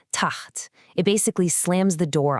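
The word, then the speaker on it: تحت: The word taht, which means below. The word is spelled with a ta, a ha, and another ta. Notice that little circle on the middle letter, the ha? That's our sukoon. It's telling us to mash those first 2 letters together into one syllable, taht.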